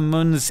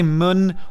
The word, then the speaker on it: Mun: the sphere of the moon's influence I say moon or moon interchangeably it's spelled mu n in this game but obviously